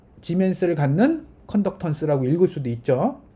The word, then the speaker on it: 지멘스: 혹은 더 많이 쓰는 건 이제 S라고 쓰고 지멘스라고 읽습니다.